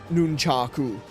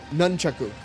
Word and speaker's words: nunchaku: And it's like, "No one says nunaku." It's nunchaku. Even if you were to put it into a Japanese accent, you wouldn't say nunchaku.